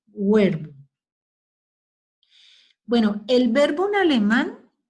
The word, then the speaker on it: Werkbund: Bueno, verbum se escribe workbum. W-E-R-K-B-U-N-D. ¿Sí? Verbum.